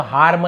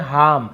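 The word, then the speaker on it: harm: हार्म यानी होता है नुकसान, बहुत सा हार्म ऐसे पढ़ते हैं, आर थोड़ा सा हम साइलेंट पढ़ते हैं, हार्म ऐसे।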